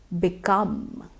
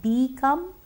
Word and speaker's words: become: Become. So although the spelling is B-E, it's not become, it would be become. In this case, the letter E has the sound I.